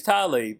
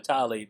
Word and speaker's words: Tlaib: For some reason, I think that's spelled wrong. I think it's Tlaib. I mean, it's Tlaib. I've been calling her Tlaib the whole time because it rolls off the tongue better.